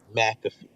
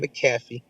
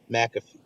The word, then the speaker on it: McAfee: Charlemagne, I know you're not listening, but it's McAfee. Not McAfee, McAfee.